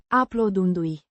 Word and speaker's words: Aplaudându-i: A gerund meaning applauding them, pronounced Aplaudându-i. with the stress on the second syllable.